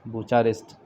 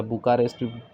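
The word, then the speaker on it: Bucharest: कौन सा रेस्ट, बुचारेस्ट या बुकारेस्ट को बहुत सारे लोग प्रोनाउंस करते हैं उसको।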